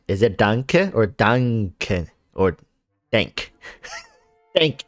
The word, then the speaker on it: danke: is like the shortened version like like thank danke is right like yeah danke is like the shortened like thanks instead of thank you right yeah am i saying it right is it danke or duncan or dank thank ee something